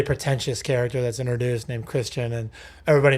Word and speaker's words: Christian: this like really pretentious character that's introduced named Christian and everybody mispronounces his name as Christian.